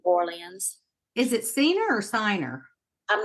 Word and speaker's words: Ciner: So you say it's I say it's Signer, but Diner.